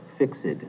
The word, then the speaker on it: fixed: the pronunciation of fixed it is pronounced here fixed and has two syllables the rhyme scheme as